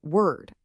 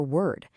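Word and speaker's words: wyrd: The word is word. And yeah, it's pronounced exactly like weird.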